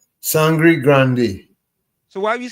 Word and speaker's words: Sangre Grande: In local palat Sandy Grande, but it's spelled Sangre Grande. So, what is the correct pronunciation? Sangri Grande.